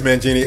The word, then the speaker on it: Mangini: It is Mangini, and he's the defensive coordinator, yes.